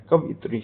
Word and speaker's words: कवयित्री: तो लोग कवयित्री लगा देते हैं, लेकिन इसका सही उच्चारण क्या है? कव या में छोटी की मात्रा ई, त्र में बड़ी की मात्रा त्री, कवयित्री होता है।